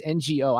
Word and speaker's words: Ngo: You know, you mentioned in your column, is it is it pronounced Andy? No, it's NGO.